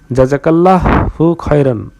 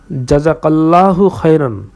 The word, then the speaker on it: জাযাকাল্লাহু খাইরান: কাউকে অনুগ্রহ করা হলে সে যদি অনুগ্রহকারীকে বলে জাযাকাল্লাহু খায়রন। অর্থাৎ আল্লাহ তোমাকে উত্তম প্রতিদান দিন। তাহলে সে উপযুক্ত ও পরিপূর্ণ প্রশংসা করলো। জাযাকাল্লাহু এর আরবি উচ্চারণ অর্থটা হচ্ছে জাযাকাল্লাহু খাইরান।